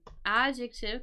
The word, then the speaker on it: adjective: abbreviation for adjective and notice how the accent here is on adjective because sometimes they hear adjective but adjective um and we're looking for